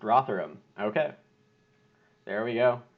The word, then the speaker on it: Rotherham: is named after the UK city which is pronounced Rotherham okay there we go it's the rather imply